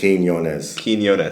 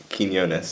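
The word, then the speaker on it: Quiñones: pronunciation of name on my social media so phonetically it would be Keen k n yo yo n e z Kos kones there you go kones yeah okay yeah I definitely did not prounce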